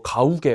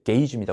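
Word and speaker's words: gauge: 요게 좀 선생님이 걱정되는데 이거 가우게 막 이렇게 이상하게 발음하는데 게이지입니다 우리 분노 게이지 알죠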